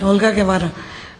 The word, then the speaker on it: Olga Guevara: Olga Guevara? I hope I didn't mess your name up. No, you did say it right. Olga Guevara.